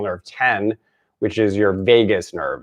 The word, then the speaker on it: vagus: 10 which is your vagus nerve it's spelled VA GU s not like Las Vegas but like vamoose in